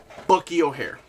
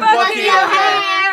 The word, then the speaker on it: Bucky O'Hare: Bucky O'Hare. That's not how you say it. Come on. Bucky! Captain Bucky O'Hare!